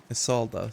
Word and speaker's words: Isolde: Isolde, that's how you pronounce it.